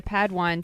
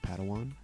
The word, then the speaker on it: Padawan: master yoda assigned a pad one to this bold jedi it's pronounced padawan oh padawan excuse me